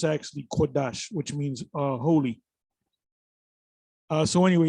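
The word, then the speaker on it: קודש: name of the Lord, you say Rakah Kadash. It's Rakah Kodash. Ka is different from Kwa in the Hebrew. So you got to pronounce the word, but that's all right. We know what you're talking about, but that's how you actually say the word.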